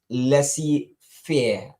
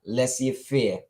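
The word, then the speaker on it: laissez-faire: for permission and our vocabulary word of today pronounced Es as Lessie fear Lessie fear and Lessie fear refers to an economic policy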